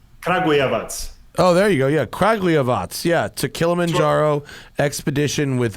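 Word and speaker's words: Kragujevac: all right do you know about the legendary cragiavoc okay exactly oh there you go yeah craglyavats yeah to kilimanjaro expedition with zastava 101s i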